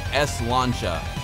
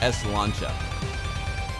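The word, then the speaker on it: sláinte: sent this to me it's pronounced like s launcha ES launcha it's the Irish pronunciation let's go slancha slancha SLA slancha there we go salcha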